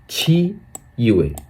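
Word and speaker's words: 七月: तो जुलाई को हम लोग बोलेंगे 40 में छी यूएए कैसे कहेंगे छी यूए यहां पर देखिए छी यूएए यानी जुलाई यहां पर देखिए छी यूए छी यूए छी यूए यानी जुलाई यहां पर देखिए छी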